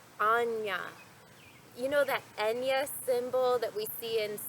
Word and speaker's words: Ajna: rajma I called it Ozma but I must ask for your forgiveness I have recently learned that the proper way to pronounce the Sanskrit word for the sixth chakra is actually more like Anja you know that Enya